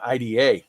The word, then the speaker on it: IDA: And Operation IDA is, I got to say it right. Operation Ida, not IDA. You got to say it right.